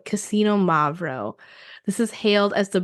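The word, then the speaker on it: Xinomavro: that makes sense right the beginning when you're saying the X it's easiest to try to say this if you think that it starts with like Casino k a s i n o that's how I've taught myself how to say this I just kind of say it a little quicker so it's just Casino mavo hopefully that helps in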